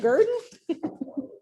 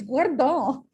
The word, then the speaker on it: guerdon: Is that Gurdon? It's Guardon.